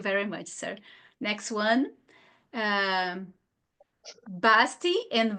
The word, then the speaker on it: Basti: Basti and Vasti are synonyms, right? Yes, same. Sim, é só uma pronúncia. Se escreve com B, mas se fala V na hora de pronunciar.